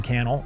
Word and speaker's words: Cannell: description my name is Cannell rhymes with you YouTube channel this is the think